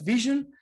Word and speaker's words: VSHN: very good tip uh it's pronounced like vision like the eye hence the logo and we've been in